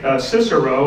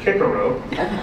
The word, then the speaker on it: Cicero: uh Greek historian Cicero although he probably pronounced it Karo uh they didn't have the c h they were too poor I guess but they didn't have that that way of saying the the sea in those days I don't even